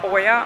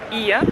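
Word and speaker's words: Οία: І ми думали, що місто називається Оя, але трансферте таксист нам вчора сказав, що це таки Ія.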